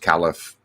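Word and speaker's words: caliph: marry uh Abu Bakar the first califf uh or khalif depending on how you pronounce it after his death he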